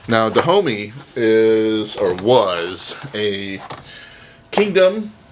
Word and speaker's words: Dahomey: I just had to look up how to pronounce that. I was saying Dahomey, and that was totally wrong. Now, Dahomey is, or was, a kingdom, and it was in West Africa.